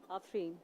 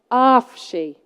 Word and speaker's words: Afreen: Afreen. What's your name? Afreen. I think you'll find that that's pronounced Afshi.